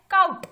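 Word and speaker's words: caught: आगे है काउट, मतलब कि पकड़े जाना, ठीक है, तो यहाँ पे हम काउट पढ़ रहे हैं, तो जी और एच का कहीं पे भी इस्तेमाल नहीं आ रहा है, तो यहाँ पे जी और एच जो है वो साइलेंट है।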